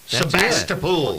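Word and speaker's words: Sebastopol: Side 36-6 Hamilton beat correct me if I'm wrong on the pronunciation Sebastapol Sebastapol that's it Baldwin beats Smithville 456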